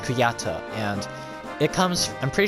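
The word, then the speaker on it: Kujata: and I also learned that uh this is pronounced kuyata and it comes I'm pretty sure it comes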